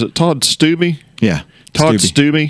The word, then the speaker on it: Stubbe: What kind of sparked this up was I was just thinking we're going to have how you pronounce? Is it Todd Stubbe? Yeah. Todd Stubbe. Stubbe.